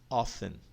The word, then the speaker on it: often: Often. Tá vendo aí? Não pronuncio o T, 50%.